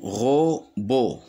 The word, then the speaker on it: robot: Le deuxième mot, robot. Robot. Ici, le T, il ne se prononce pas.